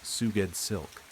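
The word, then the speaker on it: Sgoueddslk: S G O U E D D S L K pronounced Suged Silk.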